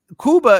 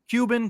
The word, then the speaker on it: Cuba: know because you because if you say Cuba am I correct in saying that's the mispronunciation it's supposed to be Kuba it's it is supposed to be Kuba it's Kuba right so does that mean